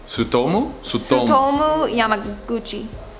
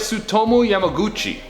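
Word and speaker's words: Tsutomu Yamaguchi: SUTOMU Yamaguchi. Japanese is like exactly how it's spelled.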